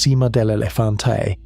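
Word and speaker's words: Sima del Elefante: In 2022, at a site in northern Spain called Cima del Elefante, pronounced Cima del Elefante, in the Atapuerca Hills, a crew dug fragments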